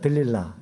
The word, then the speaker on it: 들릴라: 들릴라. 네. 그녀의 이름은 들릴라. 예전에 삼손과 데릴라 할 때 하여튼 데릴라라고 이렇게 영화 속에서도 나오는데 여기서는 들릴라라고 나와요. 똑같은 인물입니다. 데릴라, 들릴라. 들릴라.